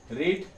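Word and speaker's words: read: है तो देखें यहां आर ई ए डी रीड आर इ ए डी इसको रैड पढ़ते हैं।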